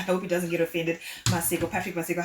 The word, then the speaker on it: Maseko: It's Maseko. It's like a silent K, but I don't know how to pronounce it. So I'm going to pronounce it the Shona way. I hope he doesn't get offended. Maseko, Patrick Maseko, how are you doing this morning?